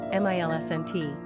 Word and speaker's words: Millicent: Pronunciation, Milsent.